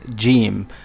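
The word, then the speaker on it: جيم: pronounce as g is jim. In standard Arabic, this would be jim, j. So jahila. But since I'm from Egypt, I just say gahila.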